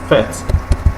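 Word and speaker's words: fête: You see that now when you have an arrow on an E, that E is pronounced as a sharp E sound. Okay, it's a sharp E sound like fete.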